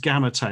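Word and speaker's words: Gamate: it in the uk turns out it's pronounced gamete and i only found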